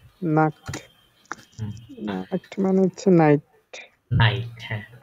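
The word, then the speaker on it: Nacht: কি লিখেছিলাম না এন আ সে আ তে নাক মানে হচ্ছে নাইট নাইট হ্যাঁ ভেরি গুড ও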